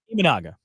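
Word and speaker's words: Imanaga: amand how do you say his last name imaga imaga there you go so this is the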